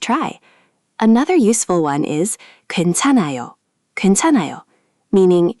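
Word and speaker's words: 괜찮아요: Four syllables. Perfect on the first try. Another useful one is gwaenchanaeyo gwaenchanaeyo, meaning "it's okay" or "no problem."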